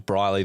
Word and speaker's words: Bryleeh: Cuz people forget the H is silent at the end, so they always spell it L E like the doctor. It would be very confusing if you said, "My name's Bryley.